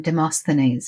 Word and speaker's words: Demosthenes: I think it's Demosthenes is how it's said. So I'll say it that way, and if it's wrong, too bad.